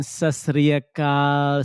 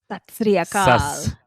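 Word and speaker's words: ਸਤਿ ਸ੍ਰੀ ਅਕਾਲ: Salam, namaste, and sasriyakal. Samim, how do you say that? Satsriyakal.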